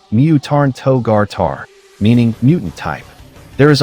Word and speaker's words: Myuutanto-gata: sudden mutation, but its furigana indicates it is pronounced Mutarn Togar Tar, meaning mutant type.